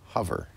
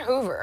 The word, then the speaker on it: Hover: be very clear that h o is pronounced hover it's not Hoover it's not a vacuum cleaner we're talking about the